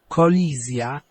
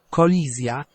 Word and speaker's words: kolizja: Okay, and we've got a Z sound there, collision. Kolizja. Kolizja.